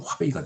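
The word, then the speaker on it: 华北: 자, 중국 문헌의 절기는 주나라 때 화북 지방, 화베이, 화북을 이제 중국어 발음으로 하면 화베이가 되는데 베이징과 텐진이 있는 지역, 지금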